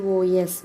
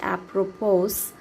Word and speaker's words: apropos: This word apropos, if I say it will be apropos, is a very important word because here S is silent.